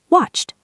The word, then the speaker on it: watched: Watched. That's a T sound.